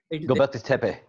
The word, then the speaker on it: Göbekli Tepe: Turkey, how do you pronounce that? Göbekli Tepe.